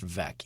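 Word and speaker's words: Veeck: I think it's pronounced vec, even though there's the double E.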